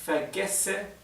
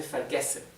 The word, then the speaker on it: vergesse: Ich vergesse immer. Acá tenemos una doble S. Recuerden que la doble S en alemán se pronuncia como una S suave.